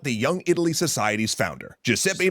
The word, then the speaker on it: Giuseppe: free independent Republican Nation you'd say it like a jepe Masini neither of them could